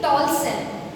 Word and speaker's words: Tolson: Shirley Tolson, S-I-S-H-I-R, Shir, I-will-be, and L-E-Y, Shirley Tolson. You will be silent at this part. You will be pronouncing it as Tolson.